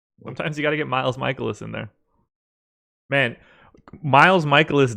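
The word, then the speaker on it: Mikolas: I could never remember to say it as michaelis so I ended up going to baseball-reference like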